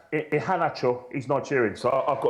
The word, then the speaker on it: Iheanacho: Actually, his name is pronounced Iheanacho.